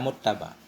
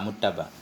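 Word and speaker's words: مُتَّبَع: Bacanya dengan fathah ya, muttaba. Dengan fathah ba, muttaba.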